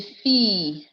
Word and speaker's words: fille: And we also saw the Yi, I double L, Yi sound, where we say fille, famille, travail, travailler, bouteille, abbaye, billet.